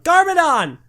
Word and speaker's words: GarmaDon: 706 56 Garmadon Garmadon Garmadon I can't believe that's actually what it's called now you got to like pronounce the capitalization it's Garmadon Garmadon Garmadon fair point I